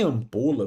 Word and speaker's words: ampola: Em ampola, família, o m não tem som, ó. Ele só está aqui para dizer que o A é nasal, ó.